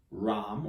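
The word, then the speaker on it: रं: Ram, or ram, if you can roll your R's.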